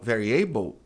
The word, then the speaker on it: variable: Ainda se você não pronunciar o L, mas isso é variable e não variable, já melhore imensamente porque tá parecido com a palavra. Vamos dar um passo adiante. Vamos pronunciar o L. Variable.